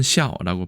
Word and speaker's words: 校: 중국어에서는 샤오라고 발음을 하고 이때는 학교의 통칭을 말합니다. 학교를 중국에서는 슈에짜오라고 안 하고 슈에샤오라고 얘기합니다.